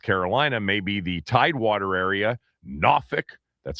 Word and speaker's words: Norfolk: It's going to hit the outer banks of North Carolina, maybe the Tidewater area, Norfolk, that's how they say it down there.